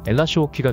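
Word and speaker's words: L.H.O.O.Q.: 대문자로 lhooq라고 적는데요 프랑스어로 발음하게 되면 엘라시호키가 되는이 음절의 뜻은 그 여자는 뜨거운 엉덩이를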